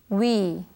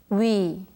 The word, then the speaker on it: 위: 선생님 pronounces it We 위 위 this letter is pronounced AS we Now Let's take a